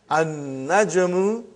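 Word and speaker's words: النجم: So how will you pronounce, brother? An-najmu ba'idun. You did not pronounce lam.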